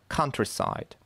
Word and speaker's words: countryside: Countryside. Первый слог под ударением. Countryside.